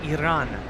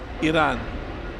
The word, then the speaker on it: Iran: next to Iraq Kavin you know it's pronounced Iran Iran all right there goes